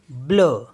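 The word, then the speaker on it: bleu: मीस होता है little B एल ई यू ब्ल ब्ल मीस होता है ब्लू एफ ई यू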